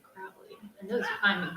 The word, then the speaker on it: Crowley: Alistair pronounced his name Crowley. He said, those who find me foully call me Crowley, and those who find me holy call me Crowley.